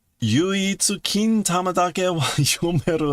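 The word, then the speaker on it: 金玉: Kintama daro ero ona.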